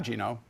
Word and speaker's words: Geno: Esiason we're back with Gino which rhymes with Vino oriemma who is passionate